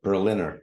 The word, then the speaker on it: Berliner: get this right is your last name pronounced Berliner or Berliner neither Berliner like the city of Berlin oh fantastic so I've